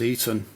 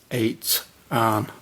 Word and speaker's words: Eitan: his name which is you pronounce it like eight an instead of eaten so um as you